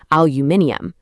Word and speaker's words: aluminium: In the UK, they literally add an extra I and a whole extra syllable saying aluminium. But over in North America, the spelling is shorter and the stress completely shifts to make it aluminum.